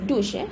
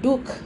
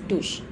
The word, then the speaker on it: douche: wash or to soak we pronounced it as douche douche and not duke or ducey or something like that it is pronounced as douche it refers to a